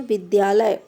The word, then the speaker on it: विद्यालय: अब लास्ट में देखते हैं, आधा दा और या का उच्चारण आधा दा और या के रूप में होता है।